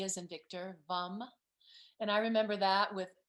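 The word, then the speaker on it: vam: l-a-m and then v-a-m b is in victor vum and i remember that with because it's your sexual center so it's v so i remember a vom and then that the third chakra is the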